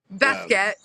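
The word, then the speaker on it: Baskette: Is that how you say it, Basket? Basket.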